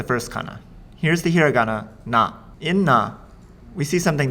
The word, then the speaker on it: な: In the nani nune no column, you start to see the beginning of several kana that look very similar to each other.